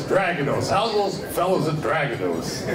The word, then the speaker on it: Dragados: i always like the way americans say dragonos and stragatos we are a spanish company and it's always dragonos how's those fellas and